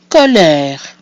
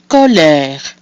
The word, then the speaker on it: colère: So we have O, followed by a pronounced consonant. That makes it an open O, E with the accent grave, which is pronounced E, and then another mute E at the end of the word, which is silent, giving us colère.